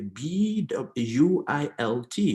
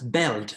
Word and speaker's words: built: also the past participle is not pronounced as belt as people do it in cameroon all the time no it is built it is beaut beard please never say belt no all right now